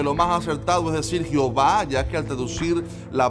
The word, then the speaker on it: Jehová: Este juego de letras, que ni siquiera se pronuncia Jehová, sino Jehová, fue un intento exitoso de los judíos de